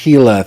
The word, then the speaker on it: Gila: It is pronounced Gila.